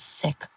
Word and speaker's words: CIC: The CIC, I tell him, pronounced phonetically is SIC.